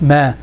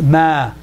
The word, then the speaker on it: ما: Not ما. It's ما. ما. Open up. You see, this one you get it right. This one you're saying it right. On this one it's not. لا and ما has to be the same.